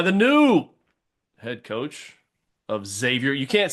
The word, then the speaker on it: Xavier: No, you cannot pronounce the X. No, my youngest one has said that several times. And all the people at New Mexico mispronounce it every single time. So, I've tried to explain to them like, you cannot say exavior. It's Xavier. So, I remember doing the